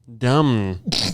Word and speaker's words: dumb: Dumb. No. D-U-M. I'll give you a second M. So where's the B for? What is a silent B there for?